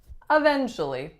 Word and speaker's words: eventually: Now this one may appear to be eventually, eventually. But again, we are taking out a syllable and we are saying eventually.